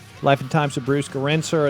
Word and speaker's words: Gerencser: Life and Times of Bruce Garinser. It's pronounced Garinser.